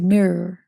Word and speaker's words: mirror: My favorite American word you guys say is mirror. What do you say in the UK? Mirror. Mirror. Mirror. There's no A in it. Mirror. Mirror. It's got 2 syllables, not mirror.